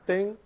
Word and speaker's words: thing: say it again yeah you don't really pronounce the G it's just thing well you don't pronounce